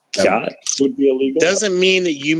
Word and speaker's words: khat: It's pronounced khat, but it's they reference it in Black Hawk Down.